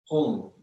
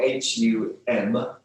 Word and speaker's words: Hum: Hum, we can spell it H-U-N-G, if you like, or H-U-M, with a dot underneath the M. Hum.